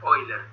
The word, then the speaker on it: Euler: Euler se pronuncia Euler.